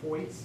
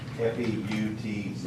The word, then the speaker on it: Foyt's: Foyt's, is that how you pronounce it? Points. Foyt's Construction from Paris, Illinois. F-O-Y-T. FEUTZ, I believe.